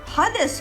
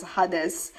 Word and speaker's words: Hades: Hades Kerbex. P.S. Yes, I pronounce Hades as Hades because it was my favorite Beyblade as a kid, and in my language, that's how you would pronounce the word Hades.